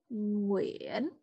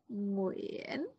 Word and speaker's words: Nguyen: For example, the most popular Vietnamese family name is Nguyen. Can you say it? Nguyen.